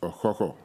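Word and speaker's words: Okukor: receive the bronze cochlear which actually is rightly pronounced a coco but you know we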